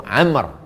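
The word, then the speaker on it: عمرو: penjelasannya Imam Ibnu Hajar al-Haitami berkata, "An Abi Amr, dari Abu Amr bil wau Abu Amr. Kalau tak ada wau Umar macam mana cara membedakan cara membacanya kayak wau itu Umar Umar ibnul Khattab. Amr ibnul Ash.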